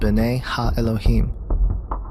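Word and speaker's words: bene ha-Elohim: of God mentioned here in the Hebrew is pronounced bene ha Elohim the Septuagint which is the Greek translation of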